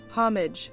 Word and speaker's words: homage: Homage. Oh, fuck. Nope, she said homage. Huh? Apparently it is homage. Okay. I thought that's what you said. No, I was saying homage with a silent H.